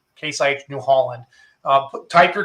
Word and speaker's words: Case IH: let's talk about case I said it wrong k-site New Holland uh type your questions into the